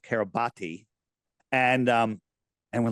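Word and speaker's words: Kiribati: registered to the nation of Kab Carab I'm gonna pronounce it the spelled carabati and um and we're like where the heck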